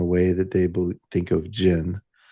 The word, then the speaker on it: jinn: in Arabic cultures and it's been Anglicized to uh pronounced genie. But, we don't uh think of genies, I think, in the way that they think of jinn.